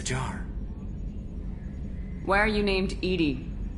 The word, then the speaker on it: EDI: why are you named edie edie is the phonetic pronunciation of e d i that is an acronym